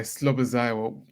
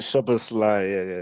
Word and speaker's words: Szoboszlai: The other guy, Slobozai, or however you pronounce it. Szoboszlai, yeah.